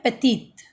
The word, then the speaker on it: petite: ठीक है, मैं इसको मैस्कुलिन में प्रोनाउंस कर रही हूँ पेती, एंड फेमिनिन में पेतीत.